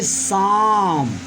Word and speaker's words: psalm: जैसे यहाँ हमने लिखा PSALM। स्टूडेंट इसे हम क्या पढ़ेंगे? इसे हम पढ़ेंगे शाम।